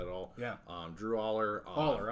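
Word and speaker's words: Allar: Aller, I'm sorry. Yeah. Not Alar.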